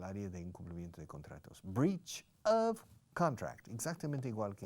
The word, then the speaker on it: breach: To break, no se dice romper un contrato, se dice breach, escrito breach, como reach, como alcanzar. Le pones una B delante, tienes breach.